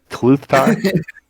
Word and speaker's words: Kluth: i am indeed it's kluth okay pretty sure it's just like you say it it's not like a silent t or a silent l no no i didn't